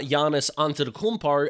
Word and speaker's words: Giannis Antetokounmpo: It's pretty funny in the NBA at the moment that supposedly the Milwaukee Bucks's superstar Giannis Antetokounmpo, and to Bazzle's emples, that actually is how you pronounce his name, they're talking about teams giving